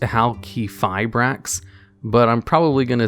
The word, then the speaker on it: Halqifibrax: say its name correctly i'm pretty sure it's pronounced how key fibrax but i'm probably gonna